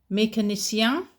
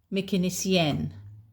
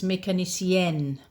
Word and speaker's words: mécanicienne: Mécanicienne. Now, that's a mechanic, okay? You could be a female mechanic. In which case, it's mécanicienne. So, again, the pronunciation is different. It's got an e at the end.